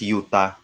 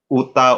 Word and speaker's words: Utah: relatives there pero utah i don't even know that it's pronounced as utah no it's i thought utta or i don't know so now it's utah okay utah you're not